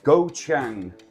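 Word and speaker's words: galangal: the uh the sorry the pronunciation for this it is goang there we go add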